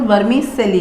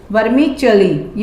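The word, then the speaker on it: vermicelli: This is नॉट वर्मी चिली, this is वर्मी चिली। ये ची का साउंड देगा।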